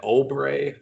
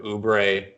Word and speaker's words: Oubre: Okay, mispronounced names. We had an Oubre from Ken instead of Oubre.